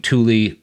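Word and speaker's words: Thule: And I'm I'm saying Tuli. Uh that's how it's pronounced, but it's spelled Thu.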